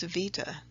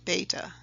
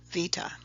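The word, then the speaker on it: βήτα: But modern-day Greeks actually pronounce it with a V as in victory sound, Vita.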